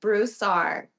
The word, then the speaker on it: Broussard: It is Broussard.